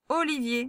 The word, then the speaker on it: Olivier: Le dernier son, là, le E et le R, ils fonctionnent ensemble. Donc, je vous laisse le lire. On y va avec les syllabes. O-li-vi-e. Olivier, c'est ça le prénom.